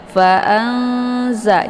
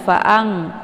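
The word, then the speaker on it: فأنزلنا: Fa'anza, jangan fa'ang, juga jangan fa'an, ya. Tapi perantaraan antara idhar dan idgham, ya.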